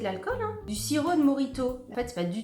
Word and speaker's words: Mojito: Ça se prononce Morito, ma puce.